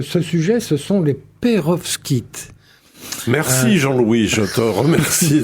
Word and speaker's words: pérovskite: Alors ce ce sujet ce sont les Perovs Kit. Merci Jean-Louis, je te remercie de l'avoir dit. Alors c'est un nom difficile à prononcer qui s'écrit aussi avec un V et un S avant le K I.